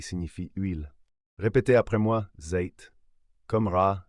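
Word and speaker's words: ز: la prochaine lettre c'est Z elle se prononce comme le Z français regardez bien Z ça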